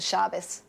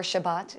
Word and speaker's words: Shabbat: Friday night we celebrate the Shabbos or Shabbat if you want the alternate pronunciation which is the Jewish